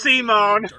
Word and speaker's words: Simon: It's pronounced Simone.